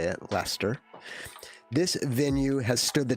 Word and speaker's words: Leicester: Yes, that's how you say it, Leicester.